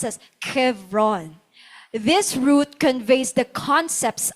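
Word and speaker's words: חברון: The name Hebron in Hebrew it means comes from the Hebrew root ba HBR lang yung kanilang spelling diyan but it's pronounced as Kevron.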